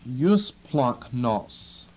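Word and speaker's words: eusplagchnos: which looks like that use plunk NOS e-u-s-p-l-a-g-c-h-n-o-s you're warning about the pronunciation whenever you get a gamma next to a Kai or Kai uh produces a funny sound okay and uh First Peter chapter three and verse 8.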